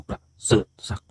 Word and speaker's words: ประเสริฐศักดิ์: สอิ ก นะ ครับ ผม ปับ เสิ ศัก ประมาณ นี้ นะ ครับ ต่อ ไป นะ